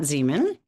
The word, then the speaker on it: Zemon: have as a guest on this to Matt Zean.